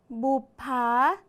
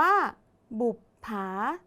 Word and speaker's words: บุปผา: คือ บ ใบ ไม้ ตัว สะกด ออก เสียง พยัญชนะ ท้าย เหมือน ตัว บ ใบ ไม้ แต่ ตัว สะกด ใน นี้ คือ ตัว ป ปลา สระ ที่ ใช้ นั่น